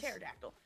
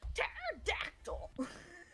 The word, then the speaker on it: pterodactyl: co oh my gosh pterodactyl pterodactyl spell with a p instead of a t yes I mean that's